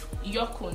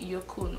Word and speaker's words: Yukon: Yorkon, they call it Yorkon.